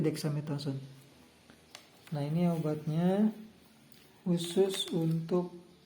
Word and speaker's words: Dexamethasone: kandungan ininya yang ininya kita bukan grathazon Nyai ngebacanya tapi Dexamethasone nah ini obatnya khusus